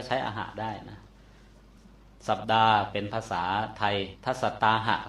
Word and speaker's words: สัปดาห์: ว่า วัน เช่น สัปดา สัปดาห เี่ มั้ย บาลี เขียน ว่า สัตตาหะ ภาษา สังกิจ เขียน ว่า สัปดาห ภาษา ไทย อ่าน ว่า สัปดา มา จาก อหะ ตัว